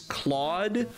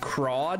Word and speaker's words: Claude: bad the main character the main character's name is claude but they pronounce it crawd half the time and like i'm not even kidding it's an english voice actor saying the name crawd because they weren't clear